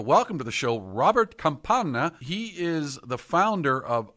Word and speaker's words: Campana: I almost said Campana, and I was like, don't do it.